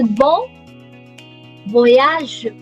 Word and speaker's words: bon voyage: It's bon voyage. Bon, last letter silent.